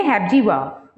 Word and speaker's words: Hepzibah: Hepzibah, हम इसे pronounce करेंगे हेप्जीवाह।